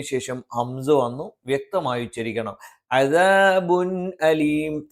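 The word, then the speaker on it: عَذَابٌ أَلِيمٌ: അദാബുൻ അലീം. തൻവീനെയും വ്യക്തമായി ഉച്ചരിക്കണം, ഹംസിനെയും വ്യക്തമായി ഉച്ചരിക്കണം.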